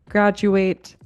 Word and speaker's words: graduate: D does sound like j sometimes when it occurs in the middle of a word in a non-stressed syllable. For example, in the words graduate, individual, educate, it makes the j sound.